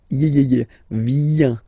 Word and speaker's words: viens: Remember this I, viens, viens, and then this nasal, final S not pronounced.